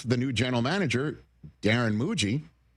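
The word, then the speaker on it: Mougey: And sure enough, the new general manager, Darren Muji, rhymes with Bougie.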